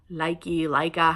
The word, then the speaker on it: Lykke: sets of size 1 Luca noodles that are connected, or Leica, how everybody says it. I think the correct pronunciation is Luca.